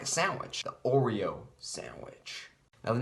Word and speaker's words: Oreo: It's 3 syllables, Oreo. 3 syllables for the 3 layers. It starts with an O and ends with an O, kind of like a sandwich. The Oreo sandwich.